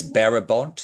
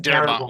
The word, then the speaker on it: Darabont: Yeah, it's Barabont. Is that how you say his name? Darabont with a Thank you. With a D.